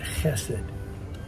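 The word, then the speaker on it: chesed: One of the most strategic words I think in the first covenant is the word hassid.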